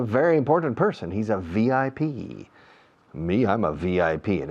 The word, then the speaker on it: VIP: En inglés no decimos VIP, decimos VIP. Pronunciamos cada letra.